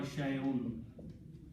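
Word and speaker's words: شيءٌ: Anything is called shay or shay'un. Okay. So the full word is shay'un, is pronounced with two dhammas. Hamza with two dhammas. Un, shay'un. Okay.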